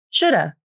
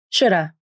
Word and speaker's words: shoulda: The initial H consonant in have is dropped. The A vowel in have is reduced to the schwa, This sounds like should've, should've, I should have gone with you. And one more reduction can happen. The final V in of can also be dropped. This sounds like shoulda, shoulda, I shoulda gone with you.